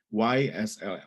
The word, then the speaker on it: YSL: YSL, Y gitu baca ejaan Inggris, YSL.